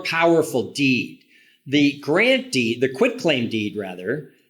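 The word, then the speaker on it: quitclaim: cover him on a quit claim deed and so and and too many people pronounce it quick claim I know I know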